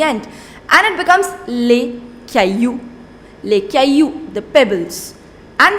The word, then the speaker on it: caillou: Next, le caillou. Le caillou. Now, it is not pronounced, double L is not pronounced in French. In what case? When you have I-double-L together, you do not pronounce double L.